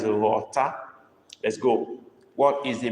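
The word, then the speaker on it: ghọta: I didn't say Lotta. I even mentioned the alphabet we are considering now before giving the word. So I don't expect anybody to misunderstand what I said. Okay? Mary has even tried being a new person. Okay, that's better. Nakeda is better. That's better. Okay. Mary have tried, but look at what Nake wrote. That is the correct word. G-H-O-T-A with dot under the O. That is rota.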